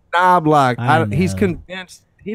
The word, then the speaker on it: Knobloch: It's Knobloch. I He's know. convinced. He doesn't know how to pronounce his own name.